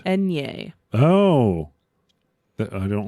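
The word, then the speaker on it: eñe: Do you know how that is pronounced as like a consonant in Spanish? No, I do not. Enye.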